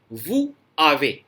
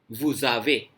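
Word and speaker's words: vous avez: वू का जो final S है वैसे तो साइलेंट रहता है, लेकिन अगर ये इफ इट is followed by vowel, ए से फॉलो हो रहा है, वाउल है, तो एस की साउंड जेड जैसी आने लग जाएगी, वुजावे।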